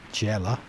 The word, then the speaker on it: Gela: See, I'd have pronounced that Gela, but Jella.